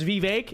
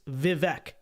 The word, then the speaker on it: Vivek: is that the way his name is spelled in English is Vivek there's no where's the ache it's not ache it's Vivek okay so uh you know unless he comes out and personally clarifies how the name is I'm gonna say it vivec it's it's it's the American way to say it's the English way to